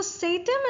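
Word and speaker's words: satem: go with that okay I pronounce it as sattim I believe that is the right pronunciation of it I could be wrong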